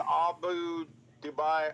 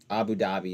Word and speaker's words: Abu Dhabi: oh well um Goldman to open Abu Dubai office in sign of moving past the 1mdb Abu Dhabi is what oh that's pronounced just so you know